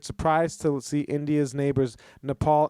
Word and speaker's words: Nepal: to see India's neighbours Nepal and Bhutan on a map mispronouncing them as nipple and button it's great that is